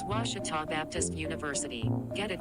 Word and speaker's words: Ouachita: ouachita sports digital network i've heard people say oh a cheetah oh wichita oh a cheetah is it pronounced searching for washi at a baptist university back in texas everybody pronounces it wichita but really it's ouachita washington washington how would you pronounce it